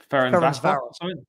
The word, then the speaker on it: Ferencváros: How do you pronounce that second team? Ferencváros.